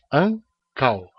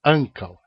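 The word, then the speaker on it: ankaŭ: Então aqui nós temos duas sílabas, ancal, e o acento cai na primeira, ancal.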